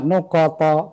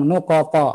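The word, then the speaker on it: نقط: Nuqat, bukan saya sengaja nuqat, bukan begitu bacanya, ikhwan. Nuqat, karena ada qalqalah di situ, ada huruf qalqalah, ta. Di pantulan itu bukan disengaja saya bilang nuqata. Ada beberapa ikhwan baca nuqata, jangan sengaja di fathah.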